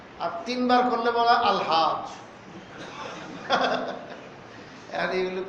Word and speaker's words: আলহাজ: তিনবার করলে বলা হয় আলহাজ্ব এখন এগুলো কি বোঝার ধর্ম আপনাদেরকে আলহাজ এটা শব্দটা আর কি আরবি স্টাইলে উচ্চারণ হবে আলিফ লাম সহ আরবি স্টাইলে উচ্চারণ আর হাজ এটা হাজ আরবিতেও কইবো